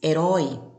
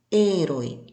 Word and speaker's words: herói: No português, herói, mas no espanhol, herói.